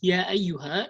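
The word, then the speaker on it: يا أيها: So when you pronounce ya ayyuha, you might say ya ayyuha, ya. You see that how I swallowed this hamza. So you have to pronounce the hamza properly.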